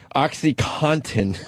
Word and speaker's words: OxyContin: Everyone says OxyContin. You got to pronounce the Contin. OxyContin.